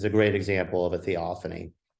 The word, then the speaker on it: theophany: In your book, you use a big word, theopancy. Did I say it right? Theophany.